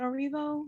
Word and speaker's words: Erivo: I can never pronounce her name. Cynthia Erivo? Is it Erivo? Yes, Cynthia Erivo.